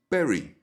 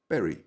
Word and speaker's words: berry: And the next word is berry, berry, with a softer B sound.